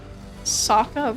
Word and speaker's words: Sokka: You constantly pronounced Sokka wrong from Avatar. That's how you say it. Sokka. Because it's like a sock.